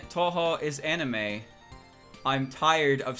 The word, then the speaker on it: Touhou: Touhou, it's pronounced Touhou.